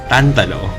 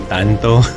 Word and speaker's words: Tantalo: I wonder why I have a difficult time pronouncing his name. Tantalo. Sometimes I get to say Tanto.